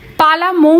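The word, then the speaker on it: পালামৌ: নির্ধারিত হয়েছে যশোবন্ত একদিন পালাম নামের ব্যাখ্যা শোনাচ্ছিল পালা মৌ নামটার আসল উচ্চারণ পালাম আসলে এই নামটার উৎপত্তি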